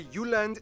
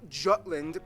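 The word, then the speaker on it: Jylland: so here we go denmark is made of the uland not jutland peninsula that can what that's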